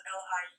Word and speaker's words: Liu: Author's last name, which is spelled L-I-U, you pronounce it Liu. So you say both the I and the U.